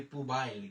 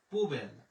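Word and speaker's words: poubelle: অনেকেই কিন্তু আমরা বলি পুবাইল, কিন্তু না, যখন আপনি বানান পড়বেন তখন কিন্তু এটা আপনার ভুল হওয়ার কোনো সম্ভাবনাই নেই। লা পুবেল, লা পুবেল।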